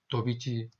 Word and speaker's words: Daubechies: 자, 그 다음에 이제, 오늘은, 우리가 도비치, 이거는 영어로는 도바치라고도 하는데요. 우리는 도비치라고 발음을 합니다.